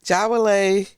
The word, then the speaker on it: Jawole: And Jawole, did I say it right?